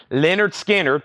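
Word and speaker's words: Lynyrd Skynyrd: the new one and this is Leonard skinnard pronounced and then Elvis Presley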